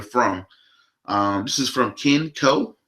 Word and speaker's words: Koh: This is from Ken Co. I think that's how you say it, Ken, K-O-H, Co.